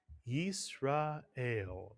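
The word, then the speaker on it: ישראל: So the first syllable is yis. The second syllable is ra. The third syllable is el. Put the word together, you get Yisrael, mitsuyan.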